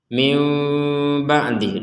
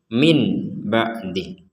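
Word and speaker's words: مِنْ بَعْدِ: dibalik menjadi mim ya di sini ada mim kecil jadi cara bacanya itu adalah mim ba'di mim ba'di mim ba mim ba seperti jadi tidak dibaca jelas kalau dibaca jelas kan min ba'di min ba'di tapi ini dibacanya e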